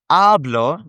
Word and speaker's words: habló: Hablo has the emphasis on the beginning vowel, the vowel in the first syllable, you could say. Whereas hablo has it in the ending.